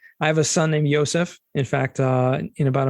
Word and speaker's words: Yosef: in the Bible right the JS are also pronounced like why similar to Hebrew yes yes so it's like literally ysep is ysep not Joseph you know Rahel instead of Rachel uh Johan